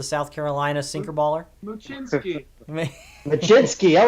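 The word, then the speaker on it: Mlodzinski: Machinsky.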